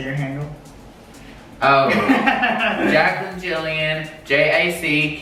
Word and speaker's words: Gillian: lie and the pronunciations if it's my name Jillian if it's anything else the Gillian girls uh the Gillian girl cosmetic all that that is a hard G so like and I